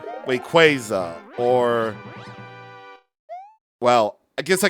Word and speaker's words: Rayquaza: It's Rayquaza. I'm just going with like whatever the Pokemon anime says. If the Pokemon anime says it, then it's obviously the right pronunciation, like Rayquaza or, well, I guess I can't really count